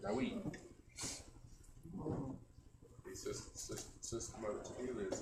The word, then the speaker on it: David: But like, how would you pronounce that there? That there. David. Huh? David. or Dawid. Exactly. King David. That's how his name's spelled. Dawid.